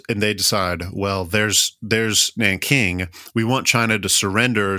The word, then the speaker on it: Nanking: For pronunciation's sake, Nanking, Nanjing, same place, depending on how you pronounce it and whatnot. But just because Iris Chang's book, The Rape of Nanking, is Nanking, I call it Nanking.